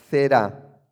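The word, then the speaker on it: זרע: La palabra hebrea para semilla es zerá, con Z.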